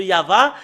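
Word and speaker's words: יהוה: C'est le livre de Torah qui stipule bien que c'est Yahva qu'on le prononce, et c'est avec cela qu'on le prononce au ciel des cieux, Yahva. Et tous qui prononcent le nom de Yahva sont tous ôtés du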